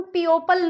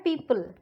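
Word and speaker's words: people: देखिए जैसे कि पी ई ओ पी एल, इसको हम पियोपल नहीं बोलते हैं, इसको हम प्रोनाउंस करते हैं पीपल.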